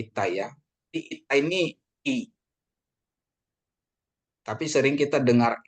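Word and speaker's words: ήτα: jadi berarti ini jadi bacanya ita bukan theta ya ita ya ya iota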